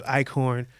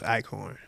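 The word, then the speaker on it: Eichhorn: hit eBay to find them again the names icorn uh well I'll spell it with the English fows e i c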